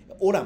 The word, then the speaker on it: hola: オラもそうですね。HOLA で